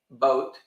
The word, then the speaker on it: Boot: well I'd be surprised Das Boot is actually pronounced boat oh both boot just